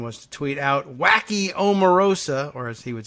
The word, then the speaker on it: Omarosa: Or was it, who said it was Omarosa? Yeah, it was Rebecca. Rebecca Romans, thank you very much. She pronounces it Omarosa.